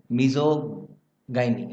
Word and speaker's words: misogyny: Okay, मिजोगाइनी, it's pronunciation में गड़बड़ है दोस्तों, ये मिजोगाइनी है, अगर मैंने कुछ गलत बोल दिया तो रियली सॉरी फॉर दैट।